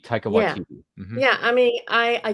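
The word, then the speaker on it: Waititi: it it was I can't and I can't pronounce his name ta te oh you mean ta watiti ta watiti yeah I mean I I get that he's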